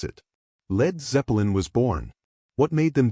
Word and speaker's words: Led Zeppelin: Drop the from bleed so Americans wouldn't mispronounce it. Lead Zeppelin was born.